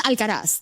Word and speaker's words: Alcaraz: The one thing that annoyed me is that no one can pronounce Carlitos' last name correctly. Carlos Alcaraz. Yeah. How do they say it? It's Alcaraz.